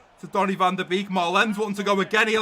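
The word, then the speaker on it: Malen: Maylen, but it's pronounced Marlen.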